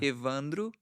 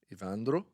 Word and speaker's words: Evandro: I probably too long but ladies and gentlemen ivandro did I pronounce that correctly yes close it is close really close how would you teach Colin to say your name iandra ivandro ivandro actually is not my name